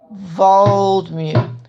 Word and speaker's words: Waldmeer: So you spell it Vvaldmeer. Waldmeer.